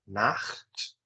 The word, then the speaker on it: Nacht: Ou ele é bem forte, como em Gute Nacht, percebe? Nacht, eu raspa a garganta.